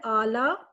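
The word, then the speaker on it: اعلیٰ: लाम के ऊपर अलिफ है, आला। छोटी ये यहाँ पे खामोश होती है, साइलेंट होती है।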